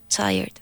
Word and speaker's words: tired: I went to the gym last week despite being tired. Very good. Now put more G in gym. Gym. I went to the gym last week despite being tired. Tired. One syllable.